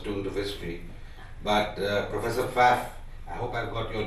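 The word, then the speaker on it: Pfaff: do history but professor fat I hope I got your name right my special assistant learn German in Frankfurt and she said it's fact that the silent P so it was wonderful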